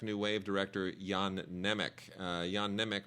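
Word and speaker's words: Jan Němec: Wave director Yan nech Yan nech or neich depending on how uh you choose to pronounce it uh very influential Czech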